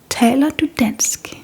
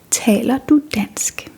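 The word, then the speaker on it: taler: lot when coming to Denmark, and that is Taylor. Taylor and this means do you speak Danish?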